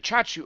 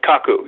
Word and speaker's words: Kaku: Miku Chachu, or is it Mr. Is it come on, Miku, right? Miku Chachu, the astronomer. Am I pronouncing that correctly? Miku Kaku, yeah. Kaku, I said K-A-K-U.